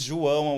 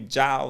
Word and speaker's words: João: For you guys, English speakers, it's hard to say my name. So people call me Jao, Yao, Joao, or how can I say your Lao? I hear Lao already, my name.